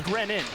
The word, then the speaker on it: Grenier: Apparently it's Grenin. Yeah, Grenin.